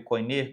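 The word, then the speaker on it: koiné: Para vocês terem ideia, o grego bíblico, né, que é o grego helenístico, o chamado também grego coinê, grego comum ou kini, dependendo da pronúncia, se for a pronúncia reconstruída, é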